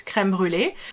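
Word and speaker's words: crème brûlée: isn't uh good uh if you want to be faithful to the french word which is creme brulee we're gonna see today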